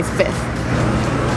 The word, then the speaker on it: fifth: And I would say 99% would say fifth. Yeah, without the F. Fifth. Fifth. It's just easier. Why would you put yourself through that trying to say fifth?